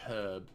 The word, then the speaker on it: herb: British therefore I say herb because it's pronounced there's an H there's an H it's not silent say herb foreign do